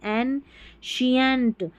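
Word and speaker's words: ancient: अब यहां पर भी देखिए सी आई है श पढ़ेंगे तो ये हो गया ए एन एन शियंट शियंट।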